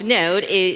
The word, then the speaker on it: Node.js: On a teeny tiny side note, the .js part of Node, Node.js is silent.